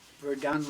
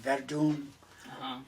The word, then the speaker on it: Verdun: at the time oh inverdon v-e-r-d-u-n your wife will pronounce we're done like verdum and uh a very